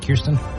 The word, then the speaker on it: Kirsten: But the new one out this weekend is Kirsten Dunst. Did I say her name right? Kirsten?